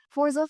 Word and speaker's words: Forza: It's spelled Forza. It's pronounced Forza. Maybe words should be pronounced the way they're spelled. Maybe that's the way it's pronounced in the language it's from.